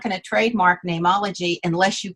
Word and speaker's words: Neimology: i could not trademark nameology because you can't trademark a common word like name and so my dad said spell it like the latin so it's n-e-i-m and just call it name ology and then we could